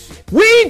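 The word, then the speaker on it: Oui: Go get your Weed Juice situation. $30 off, 30% off at Weed Juice. You got to use that code. We live, we love, Weed Juice. And that last we is spelled O-U-I, Weed Juice.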